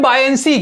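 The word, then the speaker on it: buoyancy: कैसे, ये जो ओ है ना सर, ओ को आपको साइलेंट रखना है तब पढ़ना है। ठीक है, BUY, बायंसी, बायंसी हो जाएगा।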